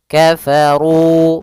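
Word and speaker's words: كفروا: Maka dia alifnya tidak dianggap ada sehingga hanya runya saja ketemu dengan wau. Kafaru panjangnya dua harakat sehingga panjangnya ru dan dzi harus sama.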